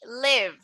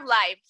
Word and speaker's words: live: So we have live or live. Esta palabra de aquí, chicos, se escribe siempre así, pero tiene dos significados. Y dependiendo de cuál significado estén diciendo, se pronuncia diferente, pero siempre se escribe igual.